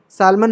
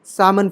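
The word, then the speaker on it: salmon: कभी कभी साइलेंट है एल साइलेंट कब है ये सामन सालमन नहीं है सामन फिश ठीक है वैसे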